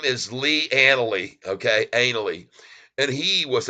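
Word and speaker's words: Ainslie: but I'll call it analy I think the S is silent folks the S is silent his name is Lee analy okay analy and he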